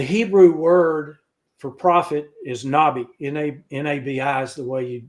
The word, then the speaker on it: nabi: The Hebrew word for prophet is nabi. N-A-B-I is the way you would spell it in English.